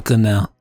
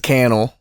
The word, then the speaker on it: Canal: studio Canal studio studio Canal that's that's actually pronounced it's canel it's pronounced Studio Canal oh oh we got